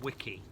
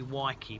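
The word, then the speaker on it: Weiki: This variety is Wiki or Waiki. It's spelled W-E. Let's have a look. I think it's W-E-I. W-E-I-K-I. So I don't know if it's probably Waiki, because Wiki would be like Wikipedia.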